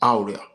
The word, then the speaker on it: Auria: He put me through a lot of the consonant sounds and taught me how to even pronounce Auria. That is not Auria, it's Auria, Auria.